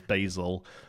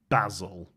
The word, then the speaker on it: Basil: content creators now refer to this card as basil um I have absolutely no problem with North